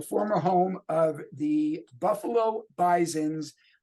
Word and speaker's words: Bisons: home of the Buffalo Bisons pronounced with a z as opposed to owls